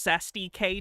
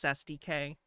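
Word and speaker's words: cestui que: There is no reason why this officer It's pronounced Cest K trust if he care. It's not a real thing in this case, so it doesn't matter. But it's pronounced Cesty K.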